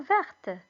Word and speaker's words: vert: J'ai besoin du verre, de la couleur verte, si tu préfères. Alors, pourquoi Hiba s'est trompé? Tout simplement parce que les deux mots se prononcent de la même façon.